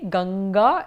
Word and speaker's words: Ganga: will it be so you have to look at the next word next letter and because it is a girl therefore it will be n mmm there asou so it will then be Ganga in that's a girl